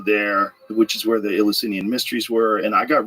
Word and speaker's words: Eleusinian: Eleusinian.